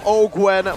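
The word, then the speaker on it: Owgwen: Ogwen gonna be chunked by Iman right now, doing some damage, but a knockup comes through again from Ogwen on his signature pick.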